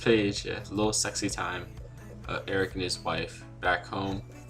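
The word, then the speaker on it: Aric: His name's, it's pronounced Eric, but I was saying Arik, so sorry about that.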